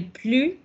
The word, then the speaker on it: plus: Cuando es negación, cuando es la cantidad cero, on ne prononce plus.